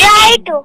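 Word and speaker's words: write: है तो यहां पर केवल और केवल डब्लू साइलेंट है डब्लू को हम अंडरलाइन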